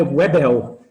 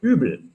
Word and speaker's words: Uebel: Só que a pronúncia é muito diferente, não é Webel, é Übel.